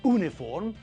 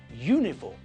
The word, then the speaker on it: uniform: university uniform and European we pronounce all these words with a year sound at the front it's not University it's University it's not uniform but uniform and it's not European it's